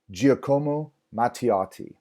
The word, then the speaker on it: Giacomo Matteotti: name correctly here excited side note speak Italian Giacomo Matteotti Giacomo Matteotti Giacomo Matteotti was a member of